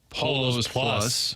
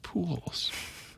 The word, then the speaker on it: Polos: is powered by Polos. I always want to say pools.